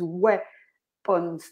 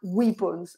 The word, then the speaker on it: weapons: The pronunciation of weapons is weapons, not weapons.